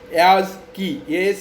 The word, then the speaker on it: ASCII: Okay, so this ASCII code is basically pronounced as ASCII, ASCII, key, ASCII, and this was first developed and published in the year 1963.